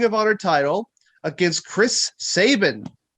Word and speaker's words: Sabin: Honor title against Chris Sabin. Rhymes with Satan.